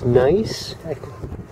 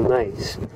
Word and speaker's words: gneiss: any stone with holes in it, anything that has a hole in it, I think it's gneiss, the mineral gneiss, G-N-E-I-S, I believe that's how it's spelled.